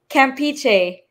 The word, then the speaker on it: Campeche: Threads stay fresh with Campecho. How do you say that? Campecho? You say so he told me how you pronounce it, like kombucha, Campeche.